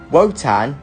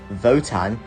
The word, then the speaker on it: WOTAN: something else the gripping story and threatening villain wotan or as it's pronounced votan is the villain and it is way ahead